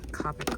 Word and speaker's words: Copic: Honestly, even though I know that these aren't like um I know that these aren't uh Copic or Copic, however you want to pronounce it.